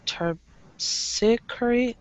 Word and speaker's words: Terpsichore: Terpsichore. Terpsichore. It's weird. Okay. Terp. Terp. Si. Si. Ka. Ka. Re. Re. Terpsichore. Terpsichore.